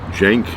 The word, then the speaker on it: Cenk: all different pronunciations but I think the main one is Jenk with like a J sound.